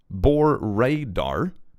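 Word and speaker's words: Bore da: Bor DDA, pronounced Bor... pronounced Bor Radar. It means hello in Welsh from my holiday North Wales.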